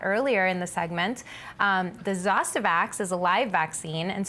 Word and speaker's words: Zostavax: Zostavax? Yes, Zostavax.